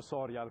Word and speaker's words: Sorial: Soriale, deputato del Movimento 5 Stelle, vicepresidente della Commissione Bilancio della Camera. Benvenuto. Grazie, buon pomeriggio, Giorgio Sorial, così mettiamo l'accento sulla sillaba giusta, grazie.